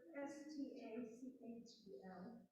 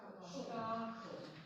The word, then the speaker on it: Stachel: The ST at the beginning of a word says the sh part thing. Can you pronounce the word S-T-A-C-H-E-L? Stachel. Stachel. Yeah. Stachel like Bach. That kind of. Because it's after an A. When it's after an E or an I, it's the sh sound.